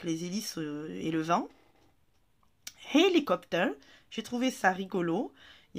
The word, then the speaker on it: hélicoptère: Hélicoptère, j'ai trouvé ça rigolo.